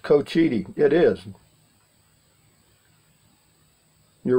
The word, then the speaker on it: Cochiti: done pretty good this is Joe Blow it's pronounced Cochiti it is you're right it's Co cuz I asked him I said is it Cochiti or Co City and she said it's Cochiti yeah thank you